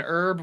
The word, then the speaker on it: herb: Like they actually, because it's just I thought like herb was a name and herb was the leaf or whatever. Like no, we pronounce our H's. You guys silence the H.